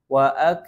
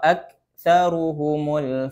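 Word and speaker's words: أَكْثَرُهُمُ: Contoh pada kalimat wa aksaruhumul fasquun waak waak. Ini keliru karena huruf kaf tidak memiliki sifat qalqalah. Jadi cara bacanya tidak ada pantulan. Wa aksaruhumul fasiquun. Bukan waak waak bukan. Ini keliru.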